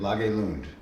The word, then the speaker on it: Lage Lund: Lage Lund is how you pronounce his name.